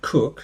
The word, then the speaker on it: Coke: down and we've got sir Edward cook whose name is pronounced coke uh sorry written as Coke says the law is